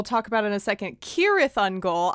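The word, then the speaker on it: Cirith Ungol: about in a second kirith on goal i pronounced it serath on gold the entire time and no one corrected me um and and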